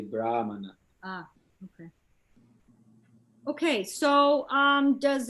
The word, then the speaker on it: Brahmana: Where's the accent? It's, over that first A? First? Yeah. First syllable? Yeah. So it's Brahmana. Right. Yeah. Right. I think when there's that accent thing, you sound the A like more with an open mouth.